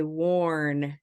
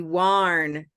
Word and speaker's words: worn: this is one possibility Olive would be warn warn which is not worn warn worn so that's